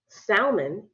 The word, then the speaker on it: salmon: almond almond salmon salmon now remove the L from either one of these words you still know what's going on you still know what a salmon is you still know what an almond is you don't we don't